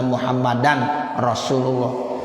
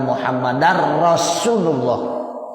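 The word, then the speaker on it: محمدا رسول الله: artinya wajib belajar ya orang awam bacanya asyhadu alla ilaha illallah wa Asyhadu anna muhammadan Rasulullah tidak sah ya Jadi mesti asyhadu alla ilaha illallah wa Asyhadu anna muhammadar rasulullah nah begitu Bapak Ibu ya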